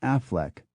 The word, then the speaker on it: Auchinleck: The Scottish town of Auchinleck is pronounced Auchinleck, but the local baron, Lord Boswell, of the same name, pronounces it Affleck.